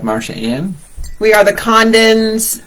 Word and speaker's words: Congdon: We are the Condons, C-O-N-G-D-O-N-S, but the G is silent.